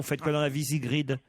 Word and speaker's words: Sigrid: Comment je dois prononcer, Sigrid ou Sigrid? Sigrid. Sigrid. Ça vient d'où ce prénom, Sigrid? Ça vient de région scandinave, ça s'écrit S-I-G-R-I-D.